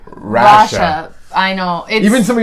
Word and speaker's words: Rasha: I'm like, she tells me to say her name Russia. So, like, why does her own damn friends not know this? It's because it's Arabic and it's pronounced Russia.